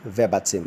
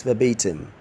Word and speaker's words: verbatim: is ve RB etim people see rabbits him I can recite that poem rabbits him verbatim is wrong the correct pronunciation of the word is verbatim verbatim the next one